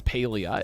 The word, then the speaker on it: Palia: That's so funny cuz yeah, their their official website says Paleia is the correct pronunciation.